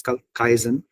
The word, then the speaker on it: kaizen: It's kaizen in Japanese. This is how you pronounce it.